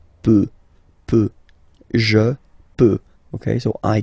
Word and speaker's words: peut: Je peux, tu peux, Then, il, elle, peut. So you will put T at the end, you don't pronounce it.